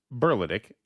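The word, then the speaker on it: Berletic: a source burlet yeah Beric Accent on first syllable yeah yeah that's how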